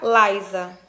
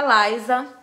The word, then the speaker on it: Lysa: l y s a essa é a peruca Laisa perdão que eu acho que tinha falado ó essa daqui é a peruca Lisa é uma peruca tradicional